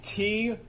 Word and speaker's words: two: So in this case, the word two, T-W-O, it's pronounced without a twa sound, right?